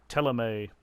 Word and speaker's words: Thélème: It feels really strange that that's pronounced Teleme when there's no accent on the E at the end.